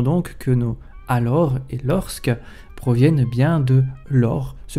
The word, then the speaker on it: lorsque: de « que », la prononciation du S serait tardive, puisqu'en 1632, Daniel Martin, dans sa Grammatica Gallica, page 42, d'après Thureau, écrivait encore « l'orque », à laquelle s'ajoutera dans la prononciation populaire un E de renforcement, lorsque, peut-être sous l'influence de parce que, et serait à mettre en relation avec celle de puisque et de jusque.